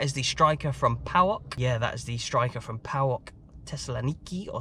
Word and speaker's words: Thessaloniki: Yeah, that is the striker from PAOK Thessaloniki, or Salonika, as it is sometimes pronounced.